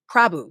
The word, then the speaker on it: Prabhu: I want to make sure I'm pronouncing her name right, but it's Trisha Prabhu. Prabhu, yes. Okay.